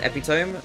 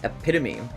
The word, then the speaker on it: epitome: It's not pronounced epome. No, it's epitome. It's epitome.